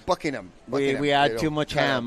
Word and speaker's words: Buckingham: not it's Buckingham so we don't want to emphasize the ham on buing it's buckingam we had too much